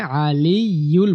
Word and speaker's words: العلي: লাস্টের অংশটুকু ওয়াহুয়াল আলিয়ুল, এখানে আলিয়ুল বলতে হবে, ওয়াহুয়াল আলিয়ুল আযীম, ওয়াহুয়াল আলিয়ুল আযীম, ওয়াহুয়াল আলিয়ুল আযীম, ওয়াহুয়াল আলিয়ুল আযীম।